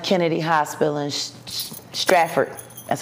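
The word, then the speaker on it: Stratford: right at uh John F Kennedy Hospital in straford that's how you pronounce it straford New Jersey um I'm a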